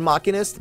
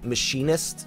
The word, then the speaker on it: Machinist: assuming fits in with the lore is machinist pronounced machinist or machinist I used to call it machinist but it is machinist so yeah uh the former sounds like they